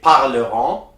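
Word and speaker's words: parlerons: and in an s the s is always silent at the end you say parleron and in l plural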